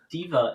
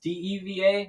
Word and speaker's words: Deva: So, the first type is the diva angel. Diva. I think that that might be how you pronounce it. It's deeva, not d iva.